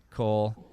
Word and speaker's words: Koul: she's on twitter she is at priya underscore cole k-o-u-l am i am i pronouncing cole right yes perfect okay yeah i'm always worried